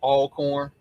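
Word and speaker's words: Alcorn: Um, Miles College plays all corn. I said it right for everybody. I said it right. Um, I got all corn winning this game. Carrie. Yeah, I got Alorn for this one.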